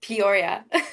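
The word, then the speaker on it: Peoria: that's at but how do you say it Poria Poria got you now iet's been uh working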